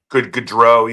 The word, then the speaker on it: Gaudreau: Then you have the team photo, and they bring out, and I'm going to mispronounce the gentleman's name. Johnny Gaudreau. Gaudreau, yeah.